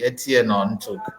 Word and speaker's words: Etieno Ntuk: I'm so happy that this moment is really possible because I have with me Etieno Ntuk. And I want to believe I got your pronunciation properly, Etieno Ntuk.